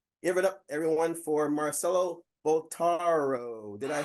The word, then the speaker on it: Marcelo Bottaro: Give it up, everyone, for Marcelo Bottaro.